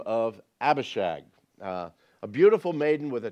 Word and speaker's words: Abishag: with a terrible name Abishag if you parents if you have any more children do not name your daughter Abishag okay it rhymes too much with hag and you know it's